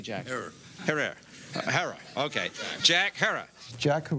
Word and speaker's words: Herer: shot by a cop Jack Herer have I pronounced it correctly Jack Herer Hara okay Jack Harris Jack who wear the jacket